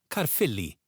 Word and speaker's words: Caerphilly: This is pronounced like the English F, as in Caerphilly.